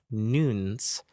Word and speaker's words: Noons: these tablets recently called Noons it's spelled and you UN very odd they want you to pronounce them like like noon like 12 o'clock like 12 o'clock I